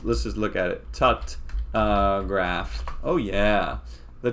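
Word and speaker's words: Tutte: it uh in this in this footnote describes that the uh correct uh pronunciation i think is tucked okay uh so i've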